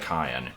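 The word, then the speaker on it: Kayin: no see I I I know it's spelled kayen k a y i n but he pronounces it cayen like and I watched his LP of this game and that's how it pronounces his name so I don't know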